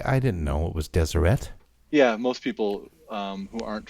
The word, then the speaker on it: Deseret: read them, but I didn't know it was Deseret. Yeah, most people who aren't from here would say desert or Deseret.